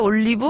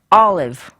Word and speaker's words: olive: 근데 영어로는 이음절로 olive. olive. 예. 결국엔 이것도 마지막에 V, E가 V 자음이에요. 발음이 예. 아니고 브, 그냥 으가 아니라 그냥 v. 어. 그러니까 한국말에는 없이 그렇죠. 그냥 V로 끝나는 거죠.